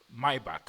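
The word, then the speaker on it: Maybach: So this is the Mercedes Mayback, Mayback as it's pronounced and this is the Brabos 850.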